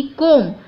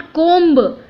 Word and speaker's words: comb: COMB, यानी कि कोम, लेकिन कई लोग अभी भी इसे रॉन्ग प्रोनाउंस करते हैं। So let's understand today that right pronunciation of COMB इज कोम, नॉट कोम्ब। कोम्ब नहीं बोलना है, इट इज़ कोम, COM, और रेड वाला B जो है वो साइलेंट है।